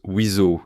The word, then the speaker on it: WSO: Vous avez sûrement déjà entendu ce sigle WSO, n'est-ce pas qu'il prononce Wizo, qui c'est l'officier spécialiste en armement.